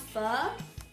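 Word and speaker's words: phở: Actually, it's pronounced pho. I'm not very good at saying because I'm Chinese, I'm not Vietnamese, but normally you'd say pho, and Vietnamese pho, which how Americans say it, is beef noodle soup.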